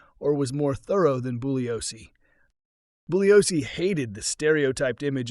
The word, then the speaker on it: Bugliosi: Bouioscei is spelled B U G L I O SI, but in Italian the letter G is silent. Colleagues and adversaries deliberately pronounced his name Bugliosce, or to really wind him up, they would call him Buggy or Bugsy.